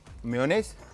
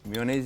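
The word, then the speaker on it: mayonnaise: इसमें हमने मेयोनेज़, ठीक है। अच्छा, मैं इसकी प्रोनाउंसिएशन मेरी जो है ना हमेशा मेयोनेज़ ही निकलती है, मायोनीज़, ठीक है।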